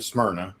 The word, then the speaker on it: Smyrna: So yeah, I'm in Smyrna, which is the next county down from the county that Nashville is in.